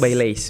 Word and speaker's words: Baileys: Bacanya Baileys, benar.